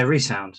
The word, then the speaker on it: Re(Sound): tell us a bit more about is it resound am i pronouncing it right yeah resound yeah um it's a spell like resound that's